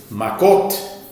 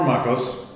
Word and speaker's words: Makot: Tractate Makot or Makos, depending on your pronunciation.